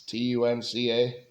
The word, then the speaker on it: Tunca: Tunja, I guess is how they pronounce that. It's Tunca.